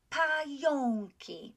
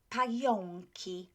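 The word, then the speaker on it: pająki: means spiders spiders and this is the word that uh has got the a and o in it um you will learn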